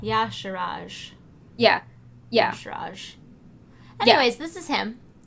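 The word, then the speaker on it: Y'Shaarj: Yeah, like, yeah, so it's emphasis on the first syllable. Yasharaj.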